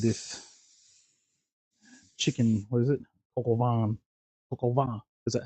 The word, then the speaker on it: coq au vin: Coq au vin. Coq au vin. Is that how you say it? Yeah. It's spelled COQAUVIN.